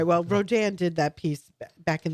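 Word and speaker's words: Rodin: Well, Rodan did that piece back in the 1880s, a French artist, and uh I took my mom to a Rodan show.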